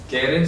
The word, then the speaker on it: Keren: La palabra Keren se escribe así. Keren se pronuncia con Q, Keren.